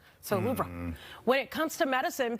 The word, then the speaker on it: Louvre: It's actually pronounced Louvre with a very soft pronunciation on the R. So Louvre.